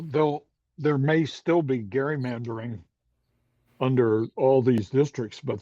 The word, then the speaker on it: gerrymandering: It was not gerrymandering, it's gerrymandering because it was named for Elbridge Gerry, who had the first gerrymandered district.